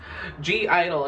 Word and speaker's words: (G)I-DLE: go dragons for safety either well hello it's G Idol and if you guys say it's Idol well